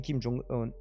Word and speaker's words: Kim Jong-un: rencontre entre Poutine et Kim Jong-un puisque ça se prononce comme ça donc le leader charismatique